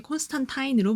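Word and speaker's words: Constantine: 또한 이름 역시 원작에 충실하게 콘스탄타인으로 발음합니다.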